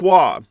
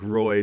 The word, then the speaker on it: Roy: You know, he even has that name Patrick Wah. and everybody pronounced it Patrick Roy down in the States and I had the